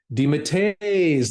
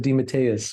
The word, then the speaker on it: DeMatteis: They pronounce it DeMatteis, like it's one long sound, whereas my father said DeMatteis with an S at the end.